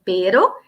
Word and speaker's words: pero: vezes confundem o peru veja bem a diferença da minha pronúncia pero que é essa palavra que está escrito aqui erro só muda um R né que na palavra terra tem um r a mais consequentemente a pronúncia pessoal não confundam tá conjunção